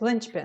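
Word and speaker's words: linchpin: is Lynch pin yes Lynch pin and Sh don't say pin it's not a long e pin yes it's a Lynch pin yes what other pens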